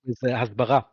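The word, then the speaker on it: הסברה: Usually Hebrew words have stress on either the last syllable or the one Bara. before the last syllable.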